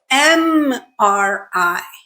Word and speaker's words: MRI: However, listen to the way that word is said. MRI. It starts with M, which is a vowel sound.